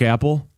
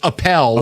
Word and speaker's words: Appel: Mark Apple. It's Appel. Appel. I messed it up.